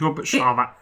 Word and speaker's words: Robert Charvat: our last videos about how to pronounce this name. Is it just Robert or is it like... Yeah, it's Robert Charvat. Okay, that was it. I was thinking it seemed too French.